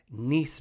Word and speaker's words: Nice: to nice biscuits okay the proper pronunciation I found out from this article is nice biscuits like the city in the south of France but you can't say